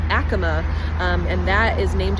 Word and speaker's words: Acoma: And another little fun fact, so we all know this as Acoma Street. It's actually pronounced Acoma, um, and that is named after an ancient